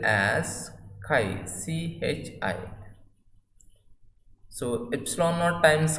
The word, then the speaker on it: chi: So it is just like X that we pronounce as chi. So this we will spell as chi, chi.